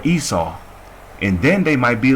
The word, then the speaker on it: Esau: or they might see aishashawa in there which is hebrew for esau and then they might